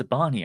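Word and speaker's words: Zabarnyi: I think it's Zabani actually. There was I'm just remembering now that the Premier League puts out one of those videos they put out now and again where they get people to pronounce their names, and I think it's Zabani rather than Yi.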